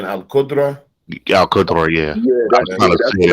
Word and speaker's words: al-Qudra: You said al-Qudra?